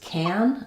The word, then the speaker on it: can: use the full form, which is can, I can, is if it's being stressed. So yes, I can go. I'm trying to tell you, no, you're wrong, I can go. I'm correcting you by stressing can instead of the main stress on the verb, the go. Or yes, I can. When it's the last word and it's stressed, it's going to use the strong form and it's going to have the a vowel.